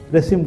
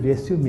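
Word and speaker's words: résumé: ஆனால் ஒன்றே ஒன்று ஞாபகத்தை வச்சுக்கணும், இது ரெஸ்யூம் இல்லை. இதோடைய உச்சரிப்பு என்னது? ரெஸ்யூமே. இது இங்கிலீஷ் வேர்டே கிடையாது, ஃப்ரெஞ்சு வேர்டு இது. இது எப்படி உச்சரிக்கணும்? ரெஸ்யூமேன்னு சொல்லணும்.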